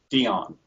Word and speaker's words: Deyan: I've heard so many people pronounce it either Dian Deon Dion how how do you pronounce it correctly Dion Dion yes Dion okay like the 50 singer